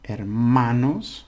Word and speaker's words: hermanos: Hermanos or hermanas. Now this is the syllable you stress because it ends in an S.